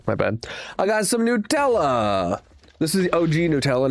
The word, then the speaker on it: Nutella: I only recently saw a post on the internet about the different pronunciations of Nutella. It's Nutella.